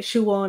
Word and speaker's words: Siobhán: becoming rarer and uh whereas the older generation some might still say shoe on and find siobhan a bit odd and so it does